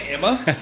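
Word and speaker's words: Aemma: Like the queen's name is Emma, but it's spelled like A-E-M-M-A. It's like, bitch, could you just say Emma?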